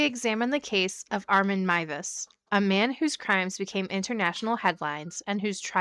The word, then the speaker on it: Meiwes: Um, do we even figure out how to pronounce the last name? It's Mus. Mus.